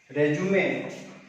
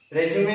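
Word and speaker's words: résumé: तो आई am enclosing my रेज्यूमे, देखो इसका प्रोनाउंसिएशन जो वर्ड है इसका प्रोनाउंसिएशन कई जगह हम गलत करते हैं, हम रिज्यूम बोल देते हैं इसको। रिज्यूम अलग है, रेज्यूमे अलग है।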